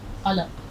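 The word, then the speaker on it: قلق: कलक, दोनों जगह काफ है, काफ, कलक, ये वाला काफ, ये कलक कहते हैं बेताबी को, रंज को, पछतावे को।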